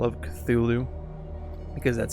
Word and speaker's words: Cthulhu: calling it call of cthulhu because that's how i know to pronounce it it's not supposed to be pronounceable by humans but that's stuff that